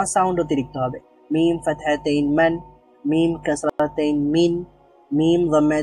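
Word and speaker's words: مً: ন সাউন্ড যোগ হবে তাহলে মিম ফাতাহাতাইন মান মিম ফাতাহাতাইন মান হবে আমরা একটু আগে দেখেছিলাম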